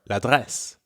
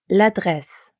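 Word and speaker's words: l'adresse: LA and address for La dress La dress French really doesn't like two vowel sounds in a row nope not at all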